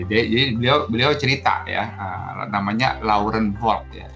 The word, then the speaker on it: Laurent: Nah, jadi beliau cerita ya, namanya Laurent Volk ya. Laurent itu dibacanya lorong ya, Laurent Volk ya, Monsieur Laurent Volk.